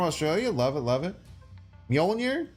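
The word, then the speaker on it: Mjölnir: love it love it mjolnir that's how you say it I guess you could but the only reason why it's mjolier is because you can't say majonir that would hurt he's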